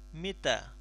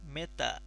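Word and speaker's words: متى: Di sini kita bisa menggunakan pertanyaan mita. Meta, biasanya pakai E, lebih condong ke huruf E.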